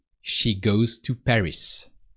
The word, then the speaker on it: Paris: so you hear that we don't pronounce the S of B because in